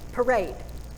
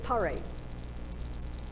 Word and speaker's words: parade: Which syllable? First or second? Do we say harder? Second. Parade. I don't say parade. Nobody says parade, right?